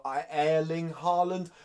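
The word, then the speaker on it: Haaland: how I err Ling Harland I think is how you pronounce it the Norwegian striker who's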